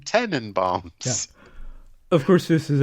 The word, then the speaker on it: Tenenbaums: from 2001, The Royal Tenenbaums. And I had to be careful how I pronounce that because I've always heard it as Tannenbaums. Like Christmas tree in German.